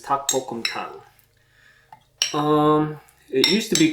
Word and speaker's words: 닭볶음탕: one of my favorites takbokumtang also known as taktoritang or i guess that's about it but the proper way to say it is tak pokemtang um it used to